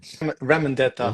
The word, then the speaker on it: Ramondetta: Ramondetta. Ramondetta.